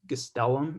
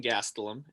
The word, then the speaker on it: Gastelum: little uh ufc preview whitaker versus gestellum if i'm pronouncing that right yeah it's uh kelvin gastelum and he is taking